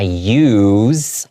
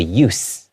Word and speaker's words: use: Okay, so when it's in the verb form, there's more of a Z sound. Okay, I use a lot of tissues because I have allergies. Use. Right? But here, it's the use of radios. It's being used as a noun, so it has more of an S sound.